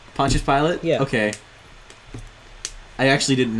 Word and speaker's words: Pontius Pilate: me I think so how do you pronounce that its punches pilot Pontius Pilate yeah okay I actually